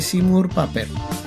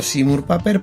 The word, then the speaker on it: Seymour Papert: Y digo Seymour Papert porque es como siempre se ha pronunciado. A veces yo mismo digo Seymour Papert cuando lo estoy leyendo, pero ellos lo pronuncian como Seymour Papert.